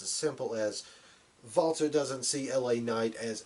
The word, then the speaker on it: Walter: Walter. You say it with that W sound. Or you say it with that V sound, not that W sound, not Walter. You say Walter.